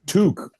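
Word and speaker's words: tuque: Tuk. Touque. It rhyme. It rhymes with Duke.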